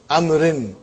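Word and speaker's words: عمرو: Haza kitabu amrin. Waw is still written. Are you with me? It's not pronounced. It's just to, why it is written? To differentiate between Umar and Amr.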